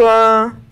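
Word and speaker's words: は: That's like the thing about like wa, where it's not like wa, it's spelled ha, but you still pronounce it wa.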